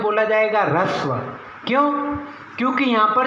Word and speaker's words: ह्रस्व: बहुत सारे लोगों को यदि मैं कहूँगा कि ये क्या है, तो वो इसे क्या पढ़ेंगे, ह्रस्व। लेकिन ऐसा नहीं है, उच्चारण नहीं जानते इसलिए गलत कर रहे होते